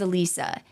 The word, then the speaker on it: Alisa: the research I did the name of Betty Gore's daughter in those podcasts was pronounced Alisa and I'm not going to like Drop names or whatever in case they mispronounce it I'm not trying to blame someone else it is my fault it is Alisa after we recorded all